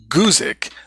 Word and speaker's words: Guzik: From there, we'll move to an example from Pastor David, I think his name is pronounced Guzik, with a kind of a long U there.